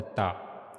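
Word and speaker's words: تاء: And we have to connect the tip of the tongue to the upper incizes.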